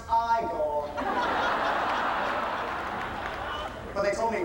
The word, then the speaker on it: Igor: No, actually it's pronounced Iiggore. But they told me it was Eigor.